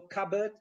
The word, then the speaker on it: cupboard: So cupboard, p is not pronounced.